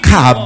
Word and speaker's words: rakab: C'est le mot hébreu Is the Hebrew rakab. word Rakab. Alléluia. Amen. Rakab. Rakab. Ça s'écrit Rachab, It is written as mais ça se Rakab, lit Rakab. but it's read as Rakab.